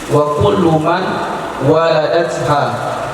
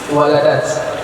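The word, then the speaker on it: ولدت: putri-putri atau kepada ummahat walat. Adapun setiap perempuan yang melahirkan ia perempuan akan banat aat. Tidak betul tuh bacanya. Waladat. Waladat atau walat?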